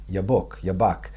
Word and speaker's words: Yabok: Yabak, is Yud Bet Kuf. That's how it's spelled in Hebrew.